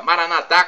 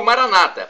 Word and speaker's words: Maranatha: Paraná da pronúncia católica Maranatha com a tônica na última sílaba ou Maranata pronúncia protestante ou evangélica como a tônica na penúltima sílaba não importa somos